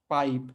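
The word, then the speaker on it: pipe: ना, पाइप लिखते हैं पिप है ना, लेकिन उसको पढ़ते हैं पाइप। तो ये जो ए और आई जो हैं दोनों जो मिलकर जुड़ जाते हैं और एक नया अक्षर बनाते हैं, एक नया उच्चारण बनाते हैं, उसको हम जो है डिफ्थोंग के नाम से जानते हैं।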